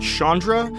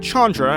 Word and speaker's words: Chandra: As a quick side note here, I have in the past pronounced it Chandra, but apparently it is indeed Chandra, as referenced here in this trailer clip.